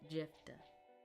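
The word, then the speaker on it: Jephthah: It's the F. Jeffa.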